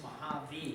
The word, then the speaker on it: Mojave: I'd imagine it's Sahara and Rubicon, and then also said Mojave on there too. So wait a second. It's Mojave.